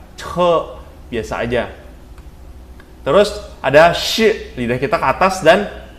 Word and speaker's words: chi: Jadi kalau CHI itu bukan baca ci. Nah, kalau ci itu kan q dengan i. Kalau ci juga kan itu j dengan i. Kalau ini bacanya shi, shi.